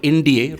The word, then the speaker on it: IndEA: whole of government framework, which is called IndEA, rightly so, right? It rhymes with the name of our country, is the India Enterprise Architecture Framework.